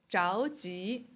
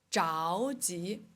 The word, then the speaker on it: 着急: 的生命，着急，急着。哎，这个汉字是一样的，但是它们的发音不一样。着急，急着，